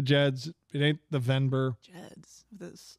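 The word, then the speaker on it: Gedds: Jeds. Geds? Soft G.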